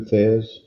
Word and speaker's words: Thesz: All right, so and I just looked up how to pronounce his name correctly. Aliosis Martin Thez, I probably butchered his first name. Went by Lou Thez in his professional career.